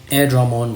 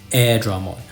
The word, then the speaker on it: Airdramon: Air Dragon so that's air Dramon so but the Japanese pronunciation is what I'm going to go with I think they call